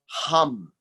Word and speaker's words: Ham: take a look at hum that's how it's pronounced hum not ham ham is what you eat in the morning thank in the story